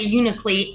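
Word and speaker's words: Unalakleet: try to pronounce this unicolee alaska yeah that was really close it's you know a cleat well if you're local you say unicleat so you're you're pretty local you got it all right so when you're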